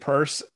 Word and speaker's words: Peirce: And I expect to get something that, like if you look at, say, like Hester Pierce's, that's her name? Yeah. Hester Pierce's Safe Harbor. Yeah. I know she pronounces it purse.